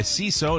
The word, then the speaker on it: Seeso: Welcome back to the Mike O'Mara Show, brought to you by CISO.